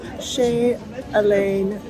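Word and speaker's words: Chez Alain: line you came from the actual pronunciation is she elain I feel like I'm still sing it wrong we waited in line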